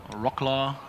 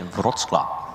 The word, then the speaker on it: Wrocław: Then we have this beautiful car of Rocklaw, and I'm not sure if I pronounced it correctly. I heard probably not. Jegor say Wrocław.